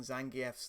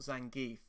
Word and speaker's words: Zangief: Yes, about comparable with Zangief here for reach. Also, something that keeps triggering me, and it shouldn't do, but it does. They keep on pronouncing Zangief's name wrong. It's not Zangief, it's Zangief.